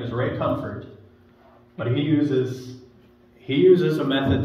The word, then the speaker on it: Comfort: Ray Comfort.